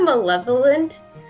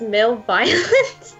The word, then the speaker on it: malevolent: Let's pronounce it is so you know malevolent. So I always pronounce it as male violence. Oh my god. There's no I.